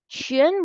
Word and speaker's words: 全: 全 will be like my last name plus, a little bit faster.